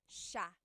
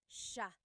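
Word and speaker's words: siya: but it's actually pronounced sha sha so the s i y it's a sha sound sha And then another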